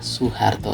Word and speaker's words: Soeharto: Dari yang OE jadi U, DJ jadi J, dan TJ jadi C.